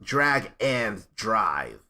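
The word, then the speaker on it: Drag x Drive: into next year D despite the X in the title it's pronounced drag and drive and then a whole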